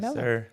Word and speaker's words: MLLW: From Melo, Melo without uh without the vowels.